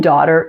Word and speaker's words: daughter: with this T variation and the final sound in daughter is the air sound make sure to pronounce it completely in American English to produce an ER